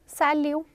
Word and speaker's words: salut: Hello and high सैल्यू. सैल्यू. T here is silent. It इज सैल्यू.